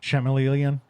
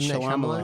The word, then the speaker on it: M. Night Shyamalan: definitely agree that that Chameleon. Chameleon. God, now that I said his name wrong, Shyamalan? what is his real Shyamalan? name? M. Night M. Night Shyamalan.